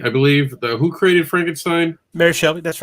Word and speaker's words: Shelley: Because if you like supernatural, one of the things I will say is that Mary Shelby, I believe, who created Frankenstein? Mary Shelley, that's right.